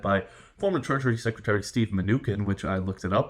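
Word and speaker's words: Mnuchin: of investors led by former treasury secretary Steve manukan which I looked it up and that is how it's pronounced Steve manukan uh went ahead and led a $1 billion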